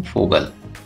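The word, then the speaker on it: Vogel: दोस्तों ये जान लीजिए का वी का प्रोनाउंसिएशन जर्मन में एप की तरह होता है, तो इसलिए यहाँ पे उसको कहेंगे हम फोगल।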